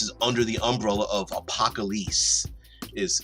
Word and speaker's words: Apocalisse: And all of this is under the umbrella of APOCALISSE, is how it's spelled.